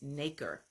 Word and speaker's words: nacre: and I looked up on Google how to pronounce that, and it's Nacre, and it's pronounced nacre.